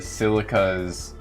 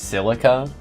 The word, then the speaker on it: Silica: Not Shileka. Shileka is just a bit too much. And Japan does have a history of naming characters Silica.